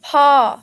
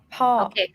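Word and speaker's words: พ่อ: could you pronounce this this one is pronounced paw my egg second tone last syllable low consonant falling tone pau so par without final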